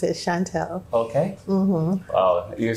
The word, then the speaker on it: Chantel: a right pronunciation that's a good way to pronounce it Chantelle okay well you said something about your grandma Yeah my grandmother she would say Chantel okay and my mom says Chantal because it's true oh it's French Sean Paul